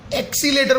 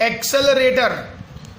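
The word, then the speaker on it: accelerator: अब ये गुजराती लोग प्रोनाउंसिएशन चेंज कर देते हैं, एक्सीलेटर बोलते हैं, एक्सीलेटर। That is the wrong pronunciation. Daily life में चलता है, सामने वाले को समझ में आ जाना चाहिए, लेकिन real pronunciation is what? एक्सेलरेटर, एक्सेलरेटर।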